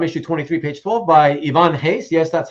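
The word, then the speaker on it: Ivan Reis: It's Ivan Hayes, right? Hayes as in like with the H? Right. It sounds like an H.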